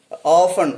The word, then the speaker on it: often: and another one word often often but we mispronounce this word as often many of us most of us pronounce this word wrongly like often but t is silent there similarly uh some other